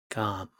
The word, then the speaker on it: 감: 감 sounds like calm with G, which makes it gam.